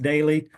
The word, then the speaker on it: Doelle: Last name's pronounced Daly, but it's Doelle.